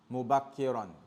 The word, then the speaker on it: مبكرا: Anything you want to say that you're doing it or it's happening early, you say mubakkiran. Mubakkiran. As if you pronounce it tanween or mubakkira.